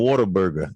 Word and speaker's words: Whataburger: It's like what a burger.